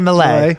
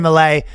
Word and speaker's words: Milei: Javier Milei. Yeah, Javier Milei. Okay. Yeah. So Vivek Ramaswamy and Javier Milei. Damn, you're just throwing all the tough ones today, huh? Vivek Ramaswamy and Javier Milei met.